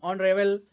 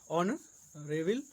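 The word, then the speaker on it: honourable: प्रयोग होता है, जैसे जिन शब्दों में एच साइलेंट रहता है उनसे पहले एन का प्रयोग होता है, जैसे an hour, an honest man, an hour, an honest man, ऑन ऑनरेबल मैन, एन ऑनरेबल मैन, एन एयर यानी उत्तराधिकारी आदि।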